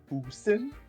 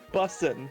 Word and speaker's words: bussin: Is Mima's brisket boosin'? What does Boosin mean? Bussin', but pronounced wrong. What does Bustin mean? Bussin'. Like Bustin makes me feel good? No, like bussin'. B-U-S-S-I-N. There's no T.